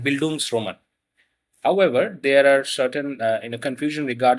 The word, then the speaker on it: Bildungsroman: gives an association to a German term called Booms Roman. However, there are certain uh you know confusion regarding the correct pronunciation to this particular word. Some people say Bangans Roman.